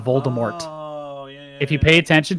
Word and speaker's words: Voldemort: I feel like there's I've heard audio recordings that pronounce Voldemort correctly uh like they initially pronounced it with the t is soft like the first couple books you'll hear Voldemort rather than Voldemort yeah if you pay